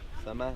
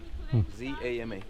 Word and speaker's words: Zama: Zama, like Z-A-M-A. Z-A-M-A. Okay? And always is the last syllable that sounds. Okay? Chichen Itza. Okay? Tulum. Coba. Okay? It's always the last. Because some say Zama, but it's not the Zama. Okay? According to the Mayan.